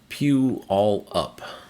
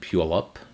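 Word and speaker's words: Puyallup: Pew all up. So, this is actually a station which we'll get to in a second. Pew all up. It's a First Nation word and portmouth is Port Smith.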